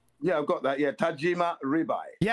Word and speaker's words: Tajima: Was that Was that Tojima? Tajim Tajima. How do you say that correctly? Yeah. Tajima.